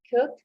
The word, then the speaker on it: could: My students sometimes they pronounce the letter L. Should, could, right? No, that's a mistake, right?